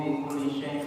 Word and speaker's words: bi kulli syai': Enggak pakai i. Bi kulli syai'. Ayo. Harus gitu bacanya. Kalau enggak nanti ingkasar al-wazn. Ahata ilmuhu bi kulli syai' fala.